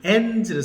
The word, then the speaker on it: ends: 그래서 어떻게 끝나는지에 대한 동사를 ends를 썼어요. How it ends. How it ends. How it ends. How it 네, 그래서 ends. it은 영어고요. 3인칭 단수니까 end에다가 s를 붙이는데 ds 발음은 z 이렇게 해요.